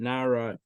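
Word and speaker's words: נער: So if Reish Lakish's teaching was only about nun ayin reish, that's pronounced nara.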